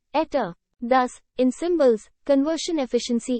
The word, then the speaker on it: eta: for efficiency in ether the Greek letter ether pronounced ETA thus in symbols conversion